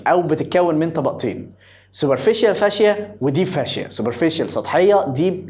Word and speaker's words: fascia: هنا بيقول لك الفاشيه، انت كنت عالي بتنطقها ازاي؟ فاسيكيا. طيب ماشي، اسمها فاشيه يا جماعه.